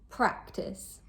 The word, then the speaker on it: practice: Question, practice. The stress is placed on the first syllable.